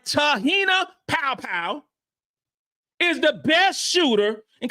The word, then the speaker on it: Te-hina Paopao: best in the world that is unbelievable okay T tah popow gota say it right tahina powpow is the best shooter in college basketball bring